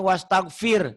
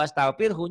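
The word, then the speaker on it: واستغفره: banyak ustad lagi karena dia bacanya wastaghfir Salah kalau wastaghfirhu nya hilang Kita disuruh beristighfar kepada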